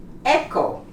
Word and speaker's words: echo: Echo, you don't pronounce the H.